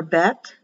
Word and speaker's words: Bet: second letter in the hebrew alphabet is for bet if you have a dot or vet pronounced as a vet via victoria if there